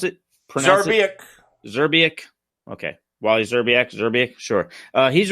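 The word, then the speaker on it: Zrebiec: Is that how you pronounce it? Zerbiak.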